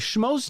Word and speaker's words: Schmoes: Schmoes Know. How do you spell it? I think I know what it is. SCHMOES. Like the average schmo.